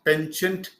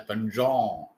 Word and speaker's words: penchant: Then in French, it is called as panjon, panjon. But we don't use it in the French way.